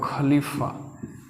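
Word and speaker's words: ख़लीफ़ा: तो खलीफा ऐसे देख खलीफा तो खलीफा मतलब इसमें नुक्ता है इसका उच्चारण इससे अलग होता है ये फारसी वर्ड है आप सुने होंगे गजल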